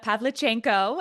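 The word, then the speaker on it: Pavlichenko: I love that you brought up the word propaganda because that's a great segue into my favorite Kate Quinn character, Ludma, Mila Pavlchenko, and I know how to say it because Saskia Marll is fantastic.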